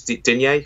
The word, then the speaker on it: Digne: On the left, I would bring in Lucas Digne or Dean. I think he said he's comfortable pronouncing it either way.